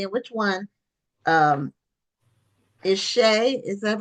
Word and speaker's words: Shea: So, uh I don't know which one is Emily and which one um is Shay. Is that how it's pronounced? It is. I'm Shay and this is Emily.